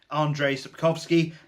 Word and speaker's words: Andrzej Sapkowski: destiny by Andrzej Sapkowski I've been informed in the comments of my previous video that that is in fact how you pronounce it Andrzej Sapkowski and that's what we're going with from now on so the sword of